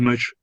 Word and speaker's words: mu: Okay, that doesn't make much sense. I'm just writing it so that you know how it's pronounced if you're not sure about it. So this symbol here is pronounced mu, okay, referring to the mean.